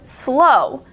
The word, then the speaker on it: slow: the W sound wonderful but then you also have the word slow it sounds like it doesn't even really have a w at the end it sounds like you're saying s l o but slow is spelled s l